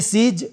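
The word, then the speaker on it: seize: दोनों स्पेलिंग अलग-अलग है उच्चारण दोनों के सेम है यह भी सीज है और यह भी सीज है ये सीज और ये सीज ज ज का साउंड आएगा इसमें जड है सीज इसका मतलब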